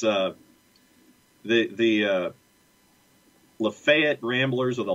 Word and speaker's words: LaFayette: lafayette ramblers or the lafayette it's not lafayette ramblers it's the la fayette ramblers or if you're from the county it's lefet lafayette or lafette depending on how fast you speak i guess yeah and